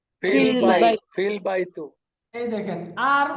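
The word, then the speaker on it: في البيت: অন্য অক্ষর চলে আসবে তখন আর এই হামজাটা উচ্চারণ হবে না এই হামজাটা ড্রপ হয়ে যাবে এখন এই দুইটাকে ইকুয়াল টু পড়লে কি ফিল বাই এরকম ফিল বাইতু না না ফিল বাইতুল ফিল বাইতু এই দেখেন আর উচ্চারণটা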